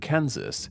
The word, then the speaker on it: Kansas: the two is called Kansas pronounced like a tin can followed by Zeus while the southern one